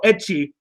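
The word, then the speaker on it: ecchi: You couldn't spell etchy, so you just wrote itchy. For those who want to know, etchy is spelled E-C-C-H-I.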